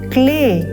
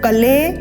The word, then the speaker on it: क्ले: नहीं बोलना है चयम क्ले अब यहां देखेंगे आधा क और ल यह बनेगा एक स्वर के साथ क्ले इसको कले नहीं बोलना क्ले बोलना है क्ले दय त्या पो